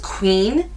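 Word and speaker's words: Qveen: regular box is this I think it's called Queen I'm pretty sure it's queen but it's spelt QV een I've never heard of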